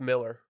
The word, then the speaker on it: Millar: It was like a Peter Millar button down. That's why I think I stay away from it. It's pronounced Miller.